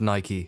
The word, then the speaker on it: Nike: For those of you who aren't aware, it's pronounced Nike.